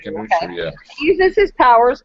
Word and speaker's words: Khonshu: Khonshu, yeah.